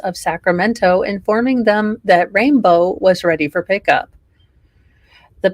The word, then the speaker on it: Rain Blue: Siamese cat rain blue oh pronounced rainbow well okay really really it it's spelled and I quote rain blue why why do people do this to me rain blue pronounced rainbow you people are butchering